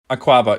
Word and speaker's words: Akwaaba: for migrants in London called, I'm going to butcher the name, but it's Akwaaba, something like that. Akwaaba, yeah.